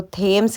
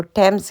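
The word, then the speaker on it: Thames: है river टेम्स और इसकी वैसे स्पेलिंग होती है टी एच ए एम ई एस तो मुझे लगा कि इसको थेम्स कहते हैं लेकिन इसको टेम्स कहते हैं पता नहीं क्यों ऐसा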